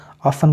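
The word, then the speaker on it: often: अच्छा 13वां प्रिंसिपल है अगर किसी लफ्ज के आखिर में टी ई एन हो तो टी हमेशा साइलेंट हो जाता है यानी कि जो भी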